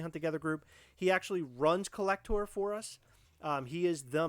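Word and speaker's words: Collectour: It's spelled Collect, O-U-R at the end, like a tour. Collector is one of our people.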